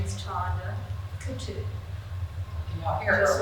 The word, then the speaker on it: Coutu: I pronounce her name wrong every time. Coutu?